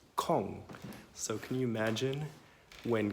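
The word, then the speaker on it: konge: so funny thing is the word King and Danish is pronounced calm so can you imagine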